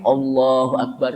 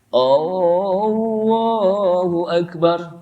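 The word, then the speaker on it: الله أكبر: Pertama tidak boleh baca Allahu Akbar dengan A-nya panjang. Allahu Akbar. Kenapa? Kalau dibaca Allahu Akbar artinya apakah Allah Maha Besar?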